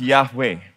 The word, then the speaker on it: Yahweh: so much really so this is pronounced yahwe we sang that song just now right y he V he yahe and in the